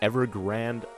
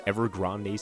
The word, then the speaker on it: Evergrande: over here leading into Evergrande City, or Evergrande City. It looks more like Grande to me, but apparently the anime pronounced it Grand, and the anime, grand